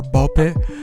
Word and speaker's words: Ball x Pit: The game is called Ball X Pit or Ball Pit. Um I think it has the same naming scheme as like Hunter Hunter. You're not supposed to pronounce the X in the middle, but I digress.